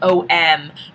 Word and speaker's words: Om: Om is spelled O-M, but it goes through every single sound of the alphabet.